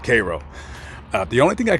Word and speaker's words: Cairo: Egypt Cairo and technically phonetically that's how it's pronounced is Cairo but don't you dare don't you dare pronounce it Cairo to anybody that lives out here because it